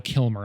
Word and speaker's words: Kilmer: lit it was supposed to be with Val Kilner and then he uh Val Kilmer I pronounced his name wrong sorry it was supposed